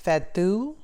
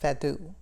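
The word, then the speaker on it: fado: genre of music called fatu i think it's pronounced father and it is considered a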